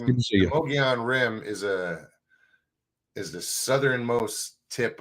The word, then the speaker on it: Mogollon: No, it's I say Mogollon. Okay. Some say Mogollon, like M-U-G. But well, I'm from Georgia. How should I do it? Mogollon? Mogollon is how I've been pronouncing it. That just feels so wrong in my mouth. It's like well, the L's, the double L is like a Y.